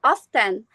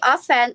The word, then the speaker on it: often: So, example, there often some pronounce the T and it becomes often and then the receipt. Some people pronounce the P and it becomes receipt which is wrong. It should be offen and receip.